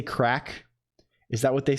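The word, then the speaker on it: craic: about VST what is it's like crack spelled like c r a i c or something right I'm probably being horribly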